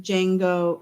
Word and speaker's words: Django: some opinions on this the D is silent in Jango Unchained okay that is